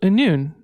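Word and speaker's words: Annwn: with the album called a noon and that is spelled a-n-n-w-n which is i think the welsh uh heaven or something like this um so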